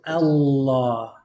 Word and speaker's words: الله: You're just going to pronounce double lam. Is it Allah or is it Allah? Oh is the sound you're making because it's a heavy L. It's the only time that the L is heavy.